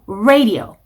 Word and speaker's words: radio: R로 시작하는 단어를 발음하실 때에는 입모양이 우 이렇게 추적으로 해야 됩니다. 일이 이렇게 벌어져 있으면 R로 시작하는 단어들은 발음이 예쁘게 나올 수가 없어요. 우 이렇게 시작을 하셔야 돼요.